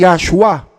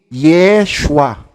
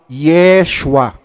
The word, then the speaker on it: Yeshua: mali din yun eh hindi yoshua ang tamang Hebrew name kundi Yeshua hindi yoshua Yeshua maghanap po kayo ng